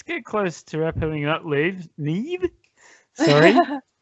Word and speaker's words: Niamh: Niamh. Sorry, it's an interesting name. It doesn't how it's spelled is not how it sounds.